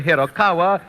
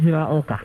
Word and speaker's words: Hiraoka: many taking that announcer's test as Yoichi Hirokawa or Yoichi Hiroike, and a great many other variations, all of which are wrong because, right from the voice of the authority itself, it should be pronounced Yoichi Hiraoka.